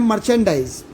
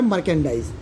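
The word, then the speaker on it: merchandise: मर्केंडाइज अब क्या है, कई लोग इसे प्रोनाउंशिएट करते हैं मर्चेंडाइज, तो अब वो उनकी प्रोनाउंसिएशन प्रॉब्लम है, लेकिन इसका जो एक्चुअली प्रोनाउंसिएशन है वो है मर्केंडाइज।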